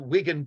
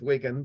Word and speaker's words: Wigan: The road to Wigan Pier, I've also heard it pronounced Wigan Pier. I'm going to go with Wigan, but I've heard Wigan as well, is initially a study